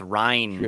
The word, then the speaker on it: Ryne: Because it's spelled Ryne, so it's not even Mm. like a regular Ryan spelling. So. It's Ryan.